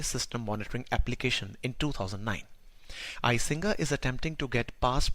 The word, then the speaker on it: Icinga: its rate of commits the name icinga is Zulu word meaning it looks for it browsed or it examines as it pronounced with a click consonant the initial release of